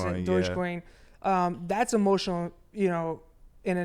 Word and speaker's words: Dogecoin: I don't know how you pronounce it. Dogecoin.